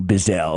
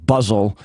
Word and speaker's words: Buzzell: Buzzle. And I hate that because it rhymes with guzzle.